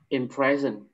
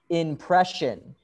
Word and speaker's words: impression: that one in prison it's not in prison really because in present is like behind bars panjatta not good oh in present no this is impression impression in brentwood if you see this s-i-o or t-i-o it makes the sound sound question impression impression impression